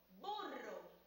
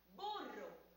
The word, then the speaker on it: burro: Pronuncien conmigo, burro. Volvamos a pronunciarla, burro. Esta palabra es corta y el sonido rrr se escucha también en la segunda sílaba.